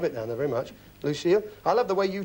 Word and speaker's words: Lucille: That's how he pronounced that. It's spelt the French way, but Lucille.